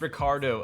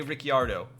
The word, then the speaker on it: Ricciardo: It's pronounced Ricardo. Okay. Some of the announcers say Ricciardo.